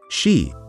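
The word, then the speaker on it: 四: find it unlucky because it is pronounced she which means the word for death hence one would never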